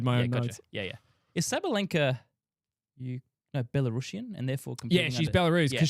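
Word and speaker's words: Sabalenka: So, the world number one that we both know the name of that I can pronounce flawlessly. Uh, it's like Ariana Grande. Ariana Grande. It's Arena Sabalinka.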